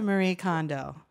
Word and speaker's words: Marie Kondo: all comes back to Marie Kondo sure as I was schooled by our friend Glenn Sir John the proper pronunciation of its Mary oh gosh I botched it it's Marie Kondo area condo it's probably Maria